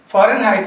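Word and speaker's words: Fahrenheit: फ़ारेनहाइट में H आपका silent है, H साइलेंट है, तो फॉरेन, फॉरेन H ध्यान रखना है आपको, फॉरेन, और हाइट HEIT, HEIT है, हाइट में ध्यान रखिएगा, HEIT। तो फ़ारेनहाइट मीन्स क्या होता है?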